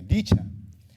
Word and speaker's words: deCH.at: Is that how I pronounce it right, David? deCH.at, okay, deCH.at.